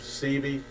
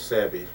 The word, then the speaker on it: Sebi: Once again, his name is Sebi. That's what it is, Sebi.